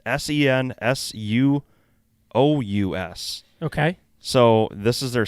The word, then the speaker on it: Sensuous: It's SENSUOUS.